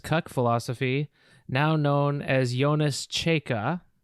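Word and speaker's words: Jonas Čeika: philosophy now known as jonas chaka how's the pronunciation on that am i am i that's pretty good yeah it's uh yawnless chica giannis okay here to talk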